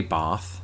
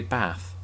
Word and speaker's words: bath: I don't say bath, I say bath.